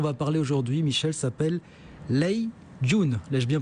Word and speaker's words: Lei Jun: L'homme dont on va parler aujourd'hui, Michel, s'appelle Lei Jun, l'ai-je bien prononcé ?